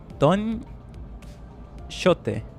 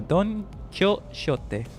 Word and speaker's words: Don Quixote: Don Shote. No, Don Quixote.